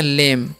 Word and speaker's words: lame: अगर लिखा है LAME, तो इसे हम पढ़ते हैं लेम, ओके। यहाँ पर ए का उच्चारण ए और ई का लास्ट नहीं होता है, ठीक है।